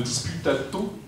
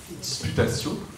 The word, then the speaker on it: disputatio: Euh voilà, un livre tout à fait saisissant, vraiment intéressant, très lumineux, euh une forme de disputato, je le prononce convenablement, disputatio, merci.